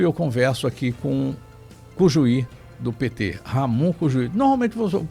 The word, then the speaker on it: Cujuí: A pronúncia em espanhol é Cujuí, Ramon Cujuí.